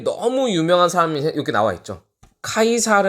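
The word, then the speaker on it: Caesar: 매력적인 남자가 바로 이 카이사르 해요 이 카이사르를 이탈리아를 케 쓰고 여러분도 이거를 0 빠름 한번 그러니까 영어식 발음을 드려야 어떻게 되죠 시저 라고 하죠 4 이것이 전부 다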